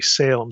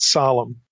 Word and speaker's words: Salem: or I'm going to try not to say Salem since that's such an anglicized pronunciation here, but Salem.